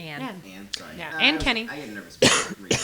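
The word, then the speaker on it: Anne: uh an Kenny and Kenny all right anen Annie a n n e an an sorry an Kenny I get nervous it's good you want you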